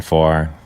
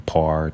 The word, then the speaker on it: Pharr: I've been called everything from par to everything else, right? But the ph is it's the f sound there. All right, so I'm Farre.